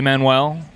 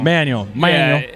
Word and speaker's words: Manuel: So I think like 500 years ago, it was probably Manuel, but I come from a family of East Texas rednecks. Hell yeah. So it's Manuel now. Manuel.